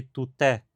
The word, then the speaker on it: tuté: Em materiais didáticos, a sílaba tônica pode, por vezes, ser sublinhada, assim permitindo que se diferencie, por exemplo, tute, pessoa de tuté, mulher.